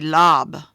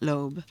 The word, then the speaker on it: lobe: If you don't have the silent E, this would be lob. We don't want lob, we want lobe.